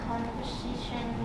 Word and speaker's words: conversation: second stress remember and the word conversation conversation conversation the third Strat okay remember thank you